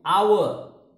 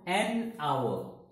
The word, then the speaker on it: hour: then third third is hour you know the pronunciation of our h is silent h is not pronounced just like in honesty spelling starts with h